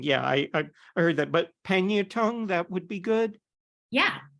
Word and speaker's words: Pangnirtung: How do you pronounce Pangnirtung? Did I get that right? Oh, that's you could. Way to say it. Pangnirtung is one way to say it. Pangnuktu, Pangnuktu, and a lot of people just call it Pang.